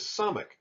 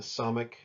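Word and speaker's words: ס: There's really no distinction here between the Samic sound and the other letter that makes an S sound. It's just an S.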